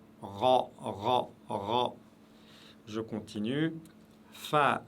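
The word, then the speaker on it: فاء: Fa, fa, toujours légère, aucune exception, c'est le F de la langue française prononcé légèrement.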